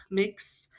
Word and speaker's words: Mx: Some libraries have already started using the gender neutral title mix, MX, yeah, pronounced mixed, as an alternative.